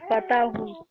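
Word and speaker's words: فتحوا: Fatahu. Alif is silent. Fatahu.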